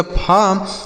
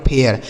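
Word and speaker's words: fair: भी लिखा है, तो इसका उच्चारण आपको ए आ करना होगा। क्या करना होगा, ए आ, इस तरीके से पढ़ना होगा। जैसे यब से हो गया फार्म, इस ए आई का उच्चारण क्या हो गया, ए आ, आर से र लिखा गया आपका फेयर, इसे फेर नहीं पढ़ा जाएगा, फेयर, क्या पढ़ा जाएगा, फेयर।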